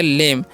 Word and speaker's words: lame: आगे लिखा हुआ है LAME, तो इसे एल से उच्चारण ल, ई का उच्चारण एकले कर देना, एम से मो और ई का उच्चारण नहीं करना, तो हो गया लेम।